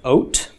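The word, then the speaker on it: ות: M for feminine nouns the suffix is the kalam vowel followed by Tov pronounced oat ok in this class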